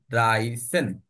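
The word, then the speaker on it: dreizehn: প্রথমে আমি এটা উচ্চারণ করবো। এইযে ড্রাই এরপর 10 উচ্চারণ করব ড্রাইসন ওকে বলব ড্রাই এরপর সেন উচ্চারণ করব হ্যা ড্রাইসন ওকে ড্রাইসন 13টা হবে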